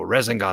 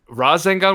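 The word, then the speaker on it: Rasengan: so thank god bro yo he pronounced it resin gone and okay yeah it's tuna but okay razzan gone with an a gun bro razen yeah exactly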